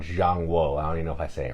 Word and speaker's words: ZhanGuo: And this game is called ZhanGuo. I don't even know if I say it right. CH is J sound. ZhanGuo.